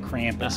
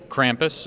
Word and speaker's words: Krampus: me about Krampus and that's how my mom would say it Krampus but that's not how it's said How's it said Krampus I think it's pretty close to what you just said yeah what's what's